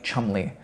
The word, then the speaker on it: Cholmondeley: They say things that are like quaintly ridiculous in an upper class way, where they pronounce names like Cholmondeley, Chumley, and Fanshawe, and stuff like that.